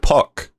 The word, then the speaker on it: Pak: of totally awesome greg pock spelt pak but it rhymes with rock i learned so it's